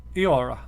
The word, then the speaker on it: Eora: EO sounds like eya. This sound is still in use with the modern word eora.